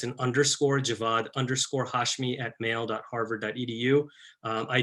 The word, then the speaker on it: Javad: Already need to make a correction, so it's Javad. I know I spell it funny, but it is Javad with a V and an A, not Javed.